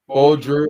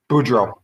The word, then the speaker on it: Boudreau: I don't know if I'm sold on Bruce Boudreau, or how to pronounce his name. I'll butcher his name like Kreuger. Boudreau.